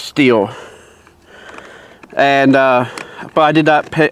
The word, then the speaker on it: Stihl: went but because now do you pronounce it still or steel i've only until he worked there i always did pronounce it still but he says steal and uh but i